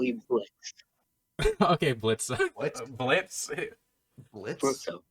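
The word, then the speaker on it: Blitzø: But yeah, Blitzo fits more. Blitz fits more. Blitzo. Blitzo. But that was silent. Blitzo, but the O is silent.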